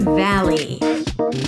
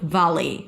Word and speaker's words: valley: And then valley. The first syllable is the a as in cat. Don't swallow it. Volley. Volley. Valley. Valley.